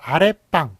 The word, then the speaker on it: 아랫방: 자, 그래서 아랫방이라고 소리 나죠. 뒤가 된 소리가 나기 때문에 그래서 사이시옷 이렇게 붙여주는 것을 볼 수가 있고요.